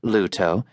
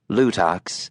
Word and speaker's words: Luto: Though it was correctly pronounced Luto, not Lutox, as the co-driver kept calling it, John was keeping his mouth shut.